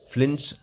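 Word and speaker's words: Flynn: This is fly, NNS, but pronounced as Flins classification of computers.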